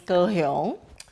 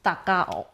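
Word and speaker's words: 高雄: That's kind of like reading these two characters with a Taiwanese pronunciation. But it's actually a little bit strange to me because these two characters is Japanese. Yes. It's actually Japanese. And in Japanese, we pronounce it as? Takao. Takao, right. Mm. So Japanese name, Takao, kind of like reading the characters in Mandarin and then later in Taiwanese, kind of changing it.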